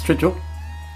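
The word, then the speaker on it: strigil: romans and it was called a stridgel s-t-r-i-g-i-l spell that from me to you in a minute it's strijl and it was used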